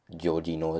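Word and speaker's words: Georginio: I think Georgino is how you pronounce it, I'm not sure.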